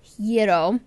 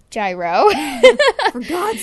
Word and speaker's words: gyro: order I got the hero not gyro yes i'm quoting her haha yeah the proper pronounced pronunciation is your donut gyro it looks like gyro but in Greek it's pronounced I used to work